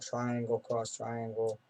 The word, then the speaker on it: Triangle Cross Triangle: by an artist called Triangle Cross Triangle, who spells his name with delta symbol and then a cross and then delta. So, but you actually say, like, triangle, cross, triangle, that's how it's said, or?